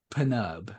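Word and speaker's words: Pnub: and I thought it was maybe a silent P. Like how there's a silent G in host, but it's Panub.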